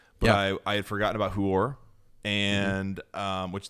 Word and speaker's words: Huor: I had forgotten about Huor, and which that's not a mispronunciation. That's his name.